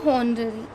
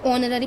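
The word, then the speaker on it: honorary: ठीक है, इसका मतलब होता है हॉनररी, यानी कि अवेतनिक। इसे हम ऑनररी पढ़ते हैं, सॉरी, इसमें एच साइलेंट होता है।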